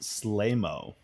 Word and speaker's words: Sleemo: So it says Sleemo is a hut tease, like Jabba the Hutt. It's an insult. Oh, interesting enough, it says it's pronounced Slaymo.